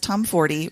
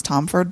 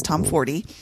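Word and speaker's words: Tomforde: First, there's from Liz Tomforty, which that is how you say her name. I always thought it was Tomford, but when I saw her Oh. in Chicago, it's Tomforty.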